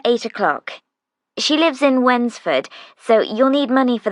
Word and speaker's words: Wednesford: o'clock she lives in wednesford so you'll need money for the bus fare winsford that's funny it's like when's the food no it's spelled w-e-d-n-e-s-f-o-r-d it's a village a few miles